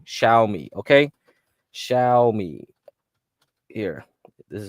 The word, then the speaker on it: Xiaomi: watch list is x i a c y xiaomi xiaomi okay shiai here this is how you spell it x i a o m i they